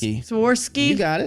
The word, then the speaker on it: Swarovski: It's Swarovski. I guess that's how you say it. Swarovski. You got it.